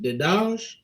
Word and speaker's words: Dedaj: Now, your last name is it Dedaj? Yes, it is. Perfect. I think I'm 2 for 2 today on pronunciations of people names, so I think I'm doing pretty Awesome.